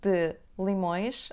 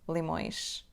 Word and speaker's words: de limões: connecting these two words: /d' limõjʃ/ the letter "E" in the word "de" will be dropped, and we pronounce /d' limõjʃ/, /d' limõjʃ, /d' limõjʃ, /d ' limõjʃ, /d' limõjʃ/. It won't be /delimõjʃ/ or even less /delimõeʃ/.